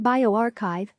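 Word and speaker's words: bioRxiv: for health sciences and bio exif pronounced bio archive for biology have been greatly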